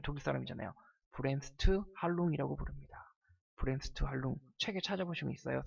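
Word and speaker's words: Bremsstrahlung: 브렘스트 할룽. 책에 찾아보시면 있어요.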